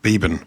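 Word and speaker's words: Beeban: Beban.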